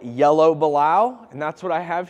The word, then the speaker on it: balau: today uh for starters balao is spelled b a l Au U and pronounced balao um there are a